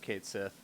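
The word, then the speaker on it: Cait Sith: does point out that it is pronounced kate seth in uh squares games so um i'm so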